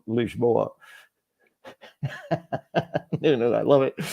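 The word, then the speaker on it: Lisboa: the if there is such a thing as standard Portuguese it's would be called leashboa you know I love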